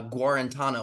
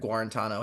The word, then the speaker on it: Guarantano: so uh Jared uh Jared guarantano I think is how you pronounce his last name so there's been a